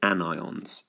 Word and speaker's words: anion: they are called annion because it looks and sounds a bit like onion I've drawn an onion here but you do pronounce it anion and because positive and